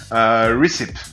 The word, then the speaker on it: recipe: me dire comment vous pensez que ça se prononce. Et le premier mot sera... Recipe.